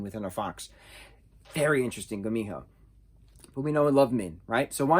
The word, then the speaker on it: gumiho: fox spirit thank you thank you for the pronunciations in the back i do appreciate that uh gumiho gumiho g-u-m-i-h-o gumiho a gumiho a fox spirit will